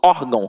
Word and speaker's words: órgão: E aí pensa comigo, onde é que está a sílaba tônica? Está no OR. Porque se o tio fosse um acento, a gente não falaria órgão, nós falaríamos órgão. E não é assim que funciona, eu falo órgão.